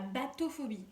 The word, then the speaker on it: bathophobie: Et donc ça s'appelle la bathophobie. Alors, ça s'écrit pas comme un bateau. Je trouvais ça, à l'oreille, je trouvais ça... Oh, bateau, profondeur. Non, en fait, ça s'écrit B-A-T-O. Et phobie. Donc la bathophobie.